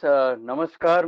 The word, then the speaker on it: namaskar: Namaskar, sir, and namaskar to everyone present. Okay, sir, one thing. Yes, sir. The correct pronunciation is namaskar. It's not namaskar, okay?